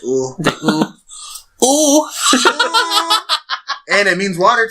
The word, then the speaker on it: eau: How do you pronounce it again? That French word? Ooh. Yeah, it's ooh.